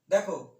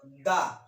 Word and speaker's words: the: দেখো এই যে দা, দা বা দি, এটা আবার জানো এই যে টিএইচই, এই ওয়ার্ডটা, এই আর্টিকেলটাকে অনেকে দুভাবে উচ্চারণ করে, কেউ বলে দা, কেউ বলে দি। না, আসলে দুটো উচ্চারণই সঠিক।